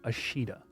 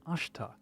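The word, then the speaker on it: Ashita: that's weird hold on in the past I would say ashida and it turns out I was mispronouncing this word because the word is actually Ash which means tomorrow in Japanese so I am playing on ashta thus you see add-ons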